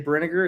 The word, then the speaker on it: Brinegar: I always say Brinegar. It's kind of like vinegar.